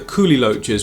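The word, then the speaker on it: kuhli loaches: that I wanted to get some of the coolie loaches, which you've now informed me is the correct pronunciation for them.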